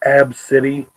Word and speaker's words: ABCDE: her kid ABCDE and she said that you pronounce it AB City and she's super pissed